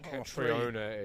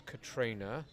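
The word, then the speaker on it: Catriona: either either or and it's not katriona either it's Katrina that is that it's Scottish right no it's Scottish so it's pronounced that way whether this is important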